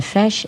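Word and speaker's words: Feis: You mean the fesh is F spelled F as in Frank E I S.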